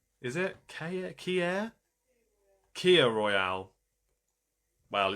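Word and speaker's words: Kir: It's pronounced Kier. Is it Kier? Kia Royale. Well, it's spelled K I R, but okay. Kier, thank you for that, Sarah.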